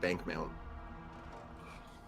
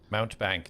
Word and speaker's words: Mountebank: I can't find it when I search Bankmount. The cloak. I'll add it for you. Okay. Mountebank. Mount Bank, not Bank Mount.